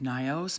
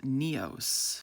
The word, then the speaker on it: Nyos: Over the last 5 years, I've always called this Lake Nyos, but thanks to this comment from a local, it's actually pronounced Neos.